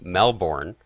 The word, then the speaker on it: Melbourne: the chat makes me think of the city Melbourne Australia local say Melbourne and if I like if I'm chatting with somebody and I say oh yeah I'm going to Melbourne people would be like where's that M like